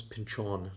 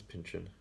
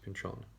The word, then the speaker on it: Pynchon: again whenever oh by the way did i pronounce his name properly it's thomas pinchon not thomas pinchen that's how it's pronounced pinchon also though because i read this i also